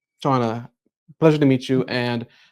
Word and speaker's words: Chanaly: Um, it is pronounced Shauna, correct? Shana. Shauna.